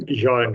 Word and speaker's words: Zjaen: Is it Zjaen? How do you say your name? Zjaen, yeah.